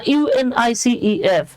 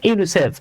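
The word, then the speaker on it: UNICEF: করে উচ্চারণ করা হয় আপনি কিন্তু কখনোই বলেন না ইউএন আই সিই এফ বরং আপনি এটাকে ওয়ার্ডের মত উচ্চারণ করছেন ইউনিসেফ এই যে আমরা পড়ে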